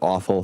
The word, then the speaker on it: AWFL: Uh and it's short for affluent white female liberal, AWFL, but you pronounce it awful for well pretty pretty clear reasons.